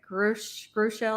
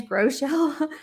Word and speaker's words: Groeschel: She said Craig Groeschel or something. His name's Groeschel. I just left it.